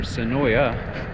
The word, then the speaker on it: Senoia: I am in Senoia, Georgia, or Senoia. I mean, it's kind of confusing in how you pronounce it in terms of the A at the end.